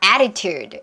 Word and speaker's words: attitude: attitude. 이것도 발음 좀 어려울 수 있어요.